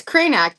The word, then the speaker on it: Krajnak: It's Krenak. The J is silent. Krenac. Okay. All right. We got that out of the way. Terra Krenak.